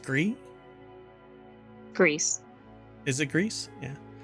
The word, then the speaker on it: Gris: So it should be pronounced Gree.